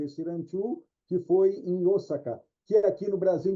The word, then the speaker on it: Osaka: Aí o japonês, quando lê esse símbolo, ele prolonga esse som, o, ele não faz o, faz Osaka, Osaka, né? É a região onde foi desenvolvido esse ranchu, que foi em Osaka, que aqui no Brasil